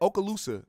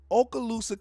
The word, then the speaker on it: Okaloosa: involving aala is that how you say it Okaloosa that's I think that's how you say it Okaloosa County sheriff's deputies in Fort Walton Beach Florida